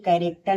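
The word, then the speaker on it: character: सी एच ए आर ए सी टी कैरेक्टर में क्या है? एस साइलेंट है।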